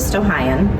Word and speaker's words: Stow-Munroe: on your school newspaper, the Stow-Munroe, and that is how you say it. People say it wrong all the time and have the whole time I've been here.